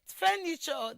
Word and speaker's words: furniture: So automatically it is the first syllable, which is fair, that receives the primary stress.